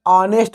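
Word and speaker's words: honest: इसमें ये है कि जो इसका एच है ये साइलेंट रहता है, इसे हम ऑनेस्ट बोलते हैं।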